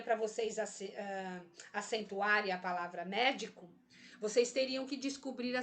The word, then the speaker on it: médico: Eu não intensifico a sílaba di. Até agora eu intensifiquei a sílaba me, ó. Médico. Se eu colocar a tonicidade na sílaba di, vai ficar assim, ó. Médico. Eu falo médico. Hoje eu vou no médico. Falo assim? Não.